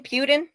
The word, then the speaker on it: Putin: or other communist countries yes what's his name Putin yes Putin or py Putin Putin Putin yeah